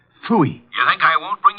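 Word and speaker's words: Pfui: It can be spelled in several ways. I spell it P-F-U-I. Fooey.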